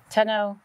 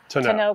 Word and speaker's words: tonneau: Tano, tomato, tomato. We got a lot of criticism on the way that we pronounce To Know cover. So we looked it up. You can pronounce it either way.